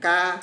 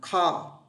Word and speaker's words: car: Cái này không phải là ca mà là car.